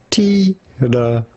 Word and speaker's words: Tittabawassee: We are looking at how to pronounce Tittabawassee. Tittabawassee. Tittabawassee. Tittabawassee. Tittabawassee. Tittabawassee. Tittabawassee. Tittabawassee. What's weird is that, like, you just have to say Tittabawassee. Tittabawassee. It's on the wa. That's the emphasis.